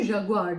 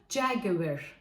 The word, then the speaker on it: Jaguar: krallık'ta olan bir marka Biz bunu Jaguar diye okuyoruz pek de seviyor Türkiye'de herkes neredeyse biliyor Bu markayı bu markanın doğru okunuşu jerger olmalı o markasını Biz Lamborghini